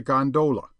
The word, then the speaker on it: gondola: A flat car, by the way, is known amongst the fraternity as a gondola, with the second syllable emphasized and pronounced long.